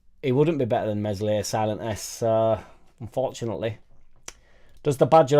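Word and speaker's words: Meslier: wouldn't be better than mesle silent s uh unfortunately does the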